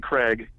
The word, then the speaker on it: Kreag: Last name is K R E A G. Okay. Pronounced Craig.